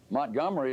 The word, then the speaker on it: Montgomery: your city's name am i doing it incorrectly montgomery is the way we pronounce it i thought i was doing just